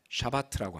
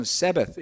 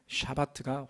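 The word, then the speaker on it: שַׁבָּת: 이 안식이라는 단어는 샤바트라고 합니다. 샤바트. 샤베트랑 비슷하죠. 그렇죠? 그래서 영어로는 Sabbath 이렇게 부르지만 그것은 그냥 미국식 발음이고요. 실질적인 발음은 샤바트가 확실히 맞습니다.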